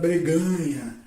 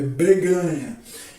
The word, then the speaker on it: breganha: That is, it's not "barganha," okay? Let's say it correctly: "breganha."